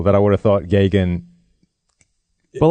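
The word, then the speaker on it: Geoghegan: from Joe Gagan Steve hey Jim Gagan yes Gagan for anyone was a sound is unfamiliar with Irish / Gaelic spelling pronunciation GE ou gh eg a n yeah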